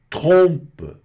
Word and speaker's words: trompe: Agora, trompe, trompe, que é tromba, de trombeta, trompe, né? Mesma pronúncia aí, pega o R aqui na garganta, o importante é o trom, trompe, tá?